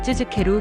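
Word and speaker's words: つづける: 예를 들어 쯔즈케루 계속하다를 발음할 때 쯔즈케루라고 하는데 즈 뒤에 케 발음이 한국어의 으처럼 들릴 수 있지만 사실은 우에 가깝게 입술을 살짝 앞으로 내밀어 발음하는 것이 더 자연스럽습니다.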